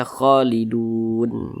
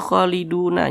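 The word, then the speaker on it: خالدون: panjang Makanya kita sukunkan sehingga dibaca kholidun jangan dibaca kholiduna jangan tapi kita baca kholidun seperti itu baik Cukup sekian pembelajaran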